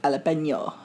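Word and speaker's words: jalapeño: I think you'll find it's pronounced jalapeno.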